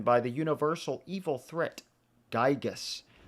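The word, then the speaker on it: Giygas: Gyigus, technically pronounced Gigas.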